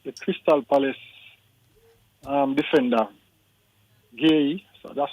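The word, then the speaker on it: Guéhi: Even even for example the the the Crystal Palace um defender Gay. So that's how name pronounced.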